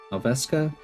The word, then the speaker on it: Nelveska: Nelveska.